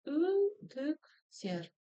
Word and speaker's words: үтіктер: И ударение будет стоять на букве Е в конце слова.